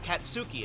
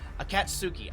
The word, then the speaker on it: Akatsuki: Sorry, I was saying it earlier and I kept saying it differently, but Akatsuki, I think, is actually how you say it.